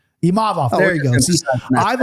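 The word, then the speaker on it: Imavov: last name real quick dirt nap for the pronunciation of the week oh imav imav there you go see I've always I've always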